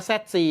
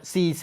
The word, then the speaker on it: ZC: ctech รุ่น zc 521 ต้อง ออก เสียง ว่า zc นะ ไม่ งั้น จะ ต้อง ออก ว่า cc มัน จะ เข้า ใจ ยาก มาก เลย นะ ครับ